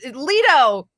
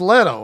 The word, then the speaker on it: Leto: to say his name uh lito no it's Leto I it's not Leto